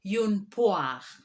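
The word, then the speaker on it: une poire: after me in order to get the correct pronunciation yoon poem secondly we have a pear a pear is called yoonpoa next we have a peach a peach is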